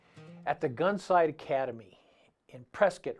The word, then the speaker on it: Prescott: the gunsite academy in prescott rhymes with biscuit arizona with my good